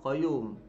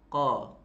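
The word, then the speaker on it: قيوم: qoyyum huwal hayyul qoyyum khoyum jangan qoyyum jangan konyol koi koi koi koi koi nyum salah oke oke huwal hayyul qoyyum bunyi-bunyi koi-koi Yum itu salah itu bacanya Mbah Aceh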